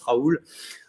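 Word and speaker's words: Raoult: Comme Florent me le demandait, mon nom de famille, ça se prononce Raoul. Il y a même s'il y a un T.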